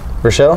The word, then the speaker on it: Rochelle: of like head coaches how do you say his last name Rochelle Rochelle okay I was gonna say Irish all three Rochelle no one I